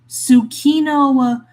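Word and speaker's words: Tsukino: Sorry, I forgot that names that start with a T then followed by S are actually pronounced like just the S. They don't pronounce the the T is always silent.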